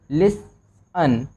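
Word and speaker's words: listen: या तो S हो, तो यहाँ पे आपका जो T होता है वो साइलेंट होता है और यहाँ पे साइलेंट है तो क्या बना, लिसन।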